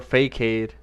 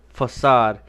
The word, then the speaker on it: facade: and historical center hospital i've been mispronouncing this this whole time it's i thought that was for kade even derelict west focade or fake hade okay facade this is how you